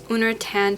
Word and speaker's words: Uner Tan: un unan syndrome I think it's how you pronounce it un I'll put it on the screen here but it's uner tan syndrome which causes people to have like it